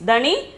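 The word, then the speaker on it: धनी: Pronunciation is dhani, meaning is rich.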